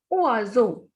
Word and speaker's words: oiseau: Next is we have two vowel combinations here, O and I and EAU. So the pronunciation of O and I is ua and EAU is o. So the word will be oiseau.